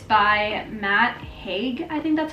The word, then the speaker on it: Haig: It's by Matt Haig, I think that's how you pronounce his last name, H-A-I-G.